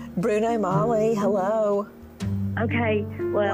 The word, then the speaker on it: Magli: like OJ and the Bruno Magnus shoes. Come on, that's huge to me. Did you say Bruno Magli? Did you just say that? I don't know how to pronounce it. Bruno Magli.